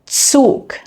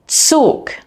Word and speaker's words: Zug: In German, however, z is always pronounced like a ts, similar to the beginning of the word tsunami, tsunami. Here are some other common examples. Zeit. Zeit. Zug. Zug.